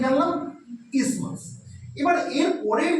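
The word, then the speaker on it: isthmus: এই যে শুরু হয়ে গেছে যে রিজনটা এটাকে বলে ইসমাস। বানানটা কিন্তু ইসথামাস। কিন্তু আমরা ইসথমাস বলব না। আমরা কি বলব? ইসমাস। স্পেলিংটা কি? আই এসটি এইচ এম ইউ এস। উচ্চারণটা কিন্তু ইসথামাস না উচ্চারণটা ইসমাস ঠিক যেমন অনেকে আমরা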